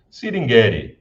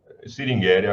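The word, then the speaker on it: Sringeri: fica na cidade de singeri singeri cingria acho que é a pronúncia mais correta então você tem essas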